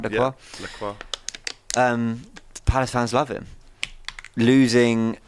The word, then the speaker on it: Lacroix: Am I pronouncing that right? Lacroix? Yeah, Lacroix.